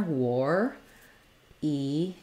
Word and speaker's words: warrior: have the phenomenon of letters a r say the or sound so it's just like the word War um make sure you have the rounding there war eer war e um long short short